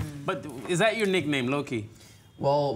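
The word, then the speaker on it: Louwtjie: But is that your nickname, Loki? Well, my grandfather's name was Loki, but it's you spell it L-O-U-W-T-J-I-E.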